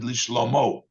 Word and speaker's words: לשלמה: Even though we pronounce it, it has a hey at the end. That sounds like feminine. It's a loshen nekeva, l'shlomo. But we pronounce it l'shlomo, to the level with